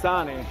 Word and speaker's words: Sani: it sunny beach and it's not spelt as the usual word sunny of course and for my american and english friends who don't understand how can you spell differently the word sunny i will spell it out for you it's s-a-n-i so yes sunny and comes from the